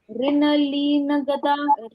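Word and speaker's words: ऋणलीनगदा: यस, इसमें हम क्या कर रहे हैं, री न का उच्चारण पूर्ण, फिर ली बोला, न गदा, न और ग का उच्चारण पूर्ण किया। नगदा ऐसे नहीं बोला, नगदा ऐसे बोला इसको।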